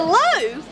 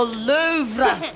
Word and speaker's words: Louvre: the louvre to see the low the louvre the r is silent okay what's it like